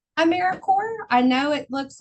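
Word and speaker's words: AmeriCorps: core of the earth, apple core, peace corps. Um, it's just got um some extra letters. Uh, but I think it's always a great way to start with just knowing how to pronounce Americaore.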